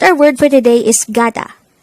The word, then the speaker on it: 가다: behangle word number 56 the word gada is a root verb or an action word